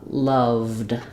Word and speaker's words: loved: a word like loved because the V is voiced they're going to say the D sound no vowel so it's going to be like uh loved um and that can